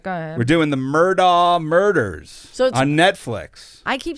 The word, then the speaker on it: Murdaugh: But this is spelled A-U-G-H. Yeah, but it goes Murdaugh.